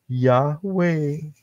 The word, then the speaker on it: Yahweh: Nah, kalau Yod He Waw He bacanya apa? Nggak lain adalah Yahweh.